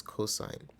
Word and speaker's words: cosine: this is pronounced as sine and this is pronounced as cosine all right and then the last one TOA